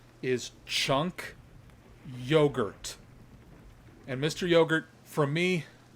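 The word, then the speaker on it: Cenk Uygur: will no longer refer to chanc wigger as Chang quicker I'm gonna start saying his name with the correct pronunciation and that is my gift to you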